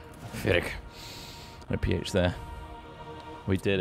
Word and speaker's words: Pyrrhic: Pronounce it? Pyrrhic. Pyrrhic.